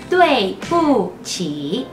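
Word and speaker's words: 对不起: Se dice así, tuei pu qi. Tuei pu qi. La D no se pronuncia como dedo o don Juan o dado, se pronuncia como una T, así que tuei, decimos tuei.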